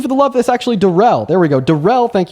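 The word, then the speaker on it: Darrell: Okay, Daryl, thank you so much for the $30 over on PayPal, my man. Appreciate you for the love. That's actually Derell.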